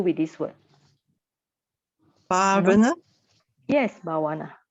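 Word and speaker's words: bhāvanā: Yes, bhavana, right? So you have this bhavana. It should be long A in front, so bhavana.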